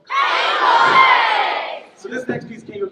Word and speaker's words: Cango: band definitely knows what it's supposed to be pronounced. Friends, what are these caves called? Cango!